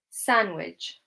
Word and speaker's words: sandwich: you this one because I do feel like I do hear some native speakers saying sandwich and they do pronounce the D. So, although this is a word where it states that the D is silent, I do hear some native speakers pronouncing the D.